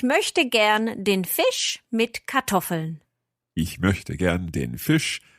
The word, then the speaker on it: Kartoffeln: With potatoes mit Kartoffeln? Ja, fast. The structure was correct, but the pronunciation was a little bit off. It's Kartoffeln. Oh, okay. See that again? Kartoffeln. Kartoffeln.